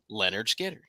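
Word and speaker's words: Lynyrd Skynyrd: the band that played on their debut album pronounced Leonard Skinner if I leave here tomorrow Casey Would You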